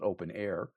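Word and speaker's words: openEHR: open EHR, pronounced uh it's spelled open EHR, it's pronounced open air.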